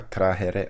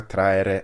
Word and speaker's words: trahere: La pronuncia della frase in latino classico sarebbe Duritia cordis vestri saxa trahere meruistis. E nella pronuncia ecclesiastica italiana sarebbe Duritia cordis vestri saxa traere meruistis.